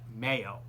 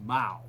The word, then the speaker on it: Mao: head and i said it is not mayo it is mao so everybody learned their lesson there and i said would you please re repeat it after me it's mao not mayo mayo's on your sandwich so as i said